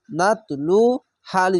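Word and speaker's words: نتلوها: লাম অফ পেশ লু নাতলু হালি জবর হাত নাতলু হাত পেশের পরে ও সাকিনে এক আলিফ টেনে পড়বেন এবং জবরের পাশে খালি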